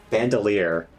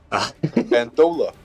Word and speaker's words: bandolier: Bandolier. I mispronounced that yesterday, and Spence never let me hear the end of it. Bandola.